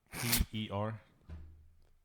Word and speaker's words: Per: Because it's No, you gotta say it like this. Per.